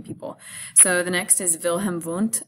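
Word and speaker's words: Wilhelm Wundt: so the next is Vilhelm oont it's spelled with W like will him want and he developed the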